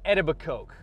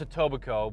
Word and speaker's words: Etobicoke: where they go to edible coke okay it's pronounced Etobicoke but the guy said a tobacco well when I was